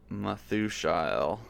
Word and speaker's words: Methushael: has Mehujael, and then Mehujael has Methushael, or Methushael.